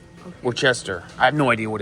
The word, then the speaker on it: Worcestershire: I think it's called Worcester. Okay. Worcester.